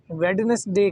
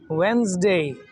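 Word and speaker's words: Wednesday: जैसे हम बुध वाले दिन को वेडनेसडे कहते हैं। और इसकी एक्चुअल प्रोनाउंसिएशन है वेडनेसडे। वेडनेसडे।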